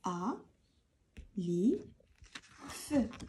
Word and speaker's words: alif: En français, on dit A, c'est tout. En arabe, alif.